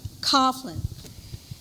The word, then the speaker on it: Coughlin: How do you pronounce this? Coughlin.